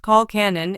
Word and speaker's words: colcannon: Colcannon, pronounced colcannon, is a traditional Irish dish made from creamy